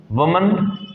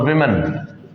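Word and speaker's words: women: ऐसे ही वमन एक औरत और विमेन, बोलने में प्रोनाउंसिएशन में अंतर होता है, इसे वुमन बोलते हैं और इसे विमेन बोलते हैं। वुमन विमन, वुमन विमन, ये हिंदी में आप अच्छे से समझ लो क्योंकि अक्सर लोग इनको गलत बोलते हैं, वुमन और विमन, अक्सर लोग इनका प्रोनाउंसिएशन गलत करते हैं।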